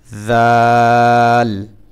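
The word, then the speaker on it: ذال: যেখান থেকে উচ্চারণ হবে জিহ্বার আগা উপরের যে দাঁতগুলো আছে দাঁতের আগাই লাগবে জিহ্বা এটাও ঠিক সেখান থেকে আগে লাগাইতে হবে জিহ্বা তারপরে উচ্চারণ করতে হবে জাল জাল জাল তারপরে র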